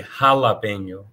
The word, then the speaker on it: jalapeño: J is pronounced as H. So the H, the letter H itself is silent, but when the J sound, the J letter is used in Spanish, it becomes an H sound.